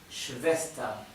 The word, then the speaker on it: Schwester: Die Schwester. Recuerden otra vez, ER al final se pronuncia con A y la R final es casi imperceptible.